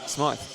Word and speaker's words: Smite: So, just getting correctings on the pronunciation. It is Jackson Smite.